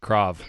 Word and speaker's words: Krav: it crawl Maga Croft because I probably been pronouncing it wrong forever Krav all right very yellow so what exactly is